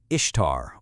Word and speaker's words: Ishtar: The whole meme hinges on the idea that Ishtar is just pronounced Easter. So, is it? Well, the short answer from linguists who actually study ancient Acadian is nope. Not even close. The real pronunciation was something like Ishtar or maybe Ishtar. That similarity you see, it's just a coincidence in modern English spelling, nothing more.